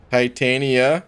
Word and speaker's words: Titania: for birthdays every day titania is pronounced like titanium titania so it is titania okay i see dragon